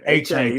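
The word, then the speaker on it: Achane: A-Chain.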